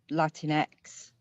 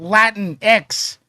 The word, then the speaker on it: Latinx: It's not Latin X. It's Latinx, because guess what? The X is attached to the word Latin.